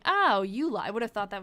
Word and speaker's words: Eola: And that's how I figured out it was called the Morse, the Ira Morse school, pronounced U. Oh, Ula. Oh, yeah. Cuz it's E O L A. Oh, Ula.